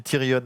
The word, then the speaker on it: Tyrion: Et il y a des gens qui me corrigent parce que j'ai dit Tyrion. Bah oui, en fait, les enfants, c'est un truc anglais, hein, donc on le prononce à l'anglaise.